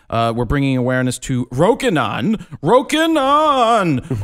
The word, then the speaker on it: Rokinon: Have you heard people say it? They're like, "Roan, Rokinan." Roenon Roco. The name is simple. It's Rokinon.